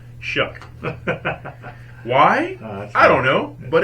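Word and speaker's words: Shough: u g I finally found out it is pronounced shuck why I don't know but it's shook so Tyler Shu um I I watched a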